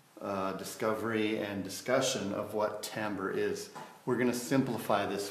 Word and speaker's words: timbre: It's not timbre, it's not timbre, it's timbre, timbre, okay? So it's like the word amber, but with a T at the beginning, okay?